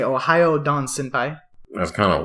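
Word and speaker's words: おはよう: Ohio. That's how you say hello. So try it. Ohio. Like the state. Like Ohio with accent on the O. Like Shimoho. Accent on the yo.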